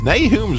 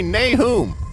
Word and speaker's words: Nahum: kind of call me Nahum. That's the way my mama pronounced it. I'll bet you say it the Bible way. Yeah, that's right, Nahum. Nahum is the Hebrew pronunciation. Nahum is more Americanized.